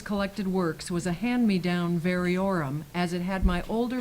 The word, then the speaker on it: variorum: Variorum, an addition or text with notes by different persons. My edition of Shakespeare's collected works was a hand-me-down variorum, as it had my older brother's notes in the margins.